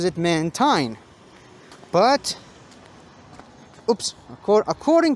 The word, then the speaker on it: Mantine: molly actually pronounces it mantine but oops of cour according to official pokemon pronunciations this thing is pronounced mantine it's a combination of manta and marine marine is a word